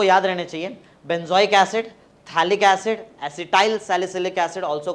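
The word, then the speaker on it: Phthalic: कार्बोसिंथ दोदो कार्बोसिंथ acid PT एच ए एल आई सी थैलिक्स इड P silent है पी थैलिक्स इड नहीं बोलते उसको थैलिक्स इड थैलिडोमाइड है और यहां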